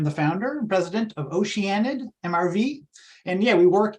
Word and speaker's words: Oceanid: I'm not really sure the best way to pronounce that. Oceanid, yeah. Oceanid.